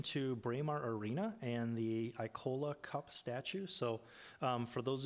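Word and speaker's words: Ikola: draw your attention to Braemar Arena and the Icola Cup statue. So for those of you that know the Icola Cup, it's a... So we'll let you let that pass because you're from Minnetonka, but that's Icola.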